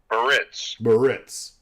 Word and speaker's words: Biarritz: Biarritz.